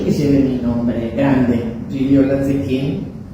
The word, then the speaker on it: Gigliola: Ese, vos no lo pronunciaste todavía. Decilo, a ver. Giliola. Bravo. Bueno, entonces empezamos a buscar, y a mí me decían Lola por Giliola.